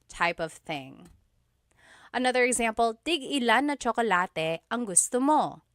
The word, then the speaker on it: tig-ilan: So tig ilan, when there's a hyphen in it, you have to have that glottal stop. Tig ilan. That means how many of each.